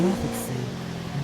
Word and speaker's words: Glafx: Glafx, in my French accent, I will pronounce it Glafx. It's Glafxi. The X like the X in taxi.